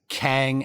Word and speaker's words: Kang: tower but it's labeled kang enterprises and it's spelled q-e-n-g yes but it's pronounced kang there's but there's two